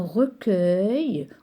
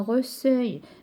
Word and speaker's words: recueil: Exemple, un recueil ou bien un accueil. Si j'écris E avant U, ça va se prononcer un accueil ou bien un recueil qui n'a pas de sens.